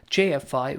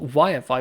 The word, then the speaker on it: YFI: gain over this area jfi would again wi-fi sorry again i pronounced it wrong wi-fi would actually again go